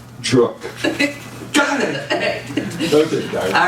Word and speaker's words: Druch: And my amazing colleague, and I'm going to get the last name pronounced right, rhymes with Brook, Darya Druch.